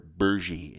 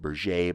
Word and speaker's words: Berger: a man named Pierre Bergy, is how they pronounced it. Looks like burger. You'll hear it pronounced Berger, but they called themselves Bergy.